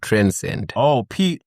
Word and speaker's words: TRNSD: Am I pronouncing it right? D. TRNSD. Transcend. Okay.